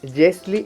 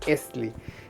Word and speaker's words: yesli: en las otras variantes, aquí nosotros lo pronunciamos con el sonido y, entonces decimos yesli en vez de esli.